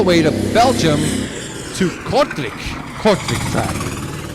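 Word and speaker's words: Kortrijk: to belgium to kortrik cortex that's actually actually how we pronounce it because mr gregory laporte the 2008 champion told me how to pronounce this so i got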